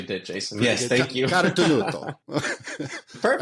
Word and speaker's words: Carotenuto: Today, we've got Carotenuto, founder and owner and co-owner of LivTours. did I say it right? Yeah, you actually did, Jason. Yes, thank you. Carotenuto.